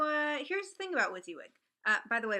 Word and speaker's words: WYSIWYG: here's the thing about with you would by the way WYSIWYG is the way you pronounce the acronym for what you see is what you get which is like it